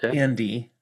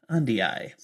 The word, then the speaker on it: Andii: Anytime I see the double vowel, I pronounce them both. And not everybody does it. Just like the Tistiandii got the two eyes. Instead of Andy, Andii.